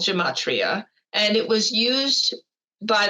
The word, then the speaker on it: gematria: It's pronounced gematria.